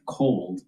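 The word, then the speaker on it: KOLD: So you want to take a look at the ETF cold spelled with a K. K O L D.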